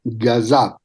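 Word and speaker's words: قصاب: corresponde al carnicero pero en el entorno persa iraní se pronuncia como gazab y el hijo de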